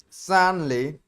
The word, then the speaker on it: sudden: Not sun. It's sudden. Okay, suddenly it happens.